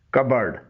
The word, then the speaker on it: cupboard: CUPBOARD کبرڈ اس کے معنی ہیں الماری. ایک تو اس میں پی سائلنٹ ہے، دوسرے بورڈ نہیں بلکہ برڈ بولا جاتا ہے.